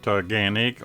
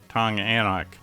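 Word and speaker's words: Taughannock: This is going to be pronounced Tunganic or Tonganak.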